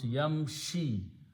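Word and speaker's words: يمشي: which is not matched so we just don't pronounce that dhamma we pronounce yamshi yamshi means he third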